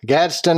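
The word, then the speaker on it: Gadsden: Holiday host in gadston gadon say it right gadston Alabama you said it correctly sir okay that's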